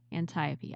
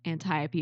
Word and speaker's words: Antiope: liked the Great General, and I always consistently mispronounce her name. So Matt, Antiope. Okay, are you sure you're pronouncing it correctly? I am. Okay, Antiope.